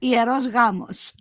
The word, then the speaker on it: hieros gamos: in Yeah, Greek we no, would pronounce it hieros gamos.